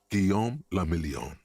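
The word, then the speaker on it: Guillaume Le Million: meant only one thing guillaume lamillion if it doesn't rhyme you're not pronouncing it right out of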